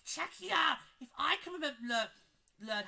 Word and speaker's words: Czechia: Like, they kept saying Czech Republic. I'm like, no, it's Czechia!